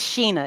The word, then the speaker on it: Sheena: pronounce your first name it's Sheena it's spelled like Shea but it's pronounced Sheena Sheena so Sheena okay